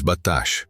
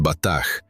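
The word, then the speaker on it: בטח: The Hebrew word is batash, pronounced batach, meaning to be secure, confident, protected, like an impregnable fortress.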